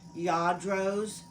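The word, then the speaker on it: Lladró: Lladros. And look how it is spelled. Llardo. They pronounce it ya, like Y-A-A, dro.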